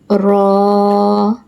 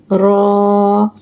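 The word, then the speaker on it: راء: Raw. Raw. Pronounce from the edge of the tongue and the part of the roots of the teeth towards the plate.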